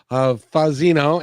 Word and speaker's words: Fazzino: Fazzino, and you said that's right, I think. Fazzino, You said it right.